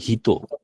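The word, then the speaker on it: 人: কোনো হিতো ওয়া ইয়ামাদা সান দেশু। বুঝছেন এটা ক্লিয়ার? এতটুকু ক্লিয়ার কিনা আপনারা বলুন, এতটুকু ক্লিয়ার কিনা? এই মানুষটি আমাদের সেন হুম, কোনো কিছু মানে এখানে এটার উচ্চারণ হবে যে হিত।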